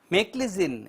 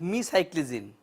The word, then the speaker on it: meclizine: as an antibiotic or drug hey this is pronounced as make listen and it is not me psych listen so how do you rate meclizine as an antibiotic or drug it is not